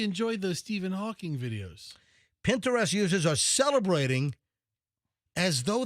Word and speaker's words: Pinterest: It's not Pinterest. It's Pinterest.